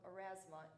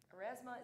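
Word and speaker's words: Aurasma: Finally, for those of you who did order one, you will want to download the app called Erasma in preparation for Friday, correct? Erasma is spelled A-U-R-A-S-M-A, in case you're wondering.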